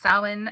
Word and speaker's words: Samhain: It's spelled Samhain, but it's pronounced Samhain, and it means summer's end.